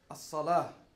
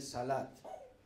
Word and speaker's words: As-Salah: As-Salah. Muchas veces lo pronunciamos y decimos el Salat. Si es así como lo conocemos, pues el Salat.